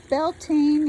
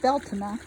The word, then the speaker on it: Bealtaine: because of colette o'neil of beltane is the way i read it but she pronounces it beltana cottage in ireland so if